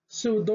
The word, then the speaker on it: pseudo: the other example is ps which is pronounced as s p s silent p then it should be pronounced as s so the example is pseudo sudo which means false presudo